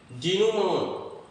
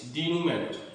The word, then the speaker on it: denouement: The first word is denouement. ये denouement नहीं है, it is denouement. denouement. इसका जो प्रोनाउंसिएशन होगा denouement. डेनूमॉन एक फ्रेंच वर्ड है, इट इज a French word और इसका मतलब क्या होता है?